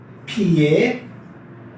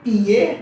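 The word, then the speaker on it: 撇: है, उसका नाम है फिए फिए फिए। अच्छा, चाइनीज लैंग्वेज में आप पी को इंग्लिश के पी की तरह नहीं पढ़ते, लाइक ये पिए नहीं है, राइट। इट्स फ इट्स फिए फिए और फिए इसलिए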